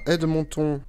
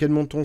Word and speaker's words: Edmonton: Vers le sud, on a Edmonton. Je le prononce à la québécoise, hein.